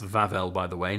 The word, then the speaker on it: Wawel: the coin we have vavel dragon that is pronounced vavel by the way not wow um so the vavel dragon some little birds